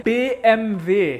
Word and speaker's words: BMW: howdy howdy howdy BMW in German you say B M V stands for pyroshow be